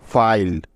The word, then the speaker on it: file: লক্ষ্য করলে দেখতে পাবে যে এই শব্দটিতে ই ভাওয়েলটা শব্দের একেবারে শেষে আছে এবং তার কোনো উচ্চারণও হচ্ছে না। এই জন্য তার আগের ভাওয়েলটির লং সাউন্ড হবে, অর্থাৎ আই ভাওয়েলটির লং সাউন্ড হবে এখানে।